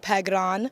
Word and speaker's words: Phekran: like pegon I know there's a K in my first name but yeah so from here on out it's either Miss or pegon heard it here